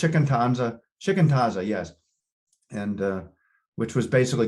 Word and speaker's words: shikantaza: He just let me work on shikantaza, which is Japanese for just sit, mind hit,